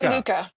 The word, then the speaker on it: Sluka: I can never pronounce it. S Toronto safety slook. Slooka.